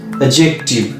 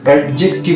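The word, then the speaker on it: adjective: Number one হচ্ছে adjust, তোমরা বলো অ্যাডজাস্ট, আমরা অ্যাডজাস্ট করে রয়েছি, not adjust, adjust, D silent, উচ্চারণ হচ্ছে অ্যাডজাস্ট। এবং আমরা একটা পার্টস অফ স্পিচকে বলে থাকি অ্যাডজেক্টিভ, অ্যাডজেক্টিভ নয় অ্যাডজেক্টিভ।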